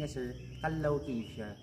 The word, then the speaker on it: Callao: So ang cave natin sir ang pangalan po niya ang correct pronunciation ng cave natin ang name niya sir kallaw. Cave siya kallaw. Yun yung proper pronunciation.